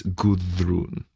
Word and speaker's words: Gudrun: By the way, it's spelled gu, but in old Norse is Goodrun.